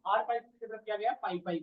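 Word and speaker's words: PyPy: Fourth one इज द पाई पाई, पी आई पी वाई है इसका spelling, P आई पी वाई, पाई पाई।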